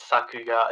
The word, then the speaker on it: Sakuga: Well, you just said it. Sakuga is the last name.